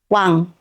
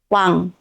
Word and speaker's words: 왕: space at the bottom if we write ㅇ(i-eung) as final consonant we get 왕(wang) 왕(wang) 왕(wang) means king okay